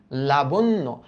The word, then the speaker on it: লাবণ্য: লাবণ্য। লাবণ্য। এই যে দেখো এই জ ফলার কারণে, এই ফলার কারণে, হ্যাঁ এই জ ফলার কারণে এই ব অর্থাৎ মধ্য অ এর উচ্চারণটা ও এর মতো হবে। তাহলে এটার উচ্চারিত রূপটা কি হবে?